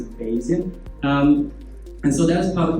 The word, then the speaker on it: Bayesian: So some people pronounce it in a really funny way, but I pronounce it Bayesian.